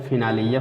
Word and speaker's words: finale: इन तीनों शब्दों में फिनाली मतलब तो उपसंहार, इन तीनों शब्दों में छोटी ई का मतलब लास्ट में आने वाले ई का छोटी होता है, और तीन शब्दों में और कहीं भी ई का उच्चारण नहीं होता है, लास्ट में आता है।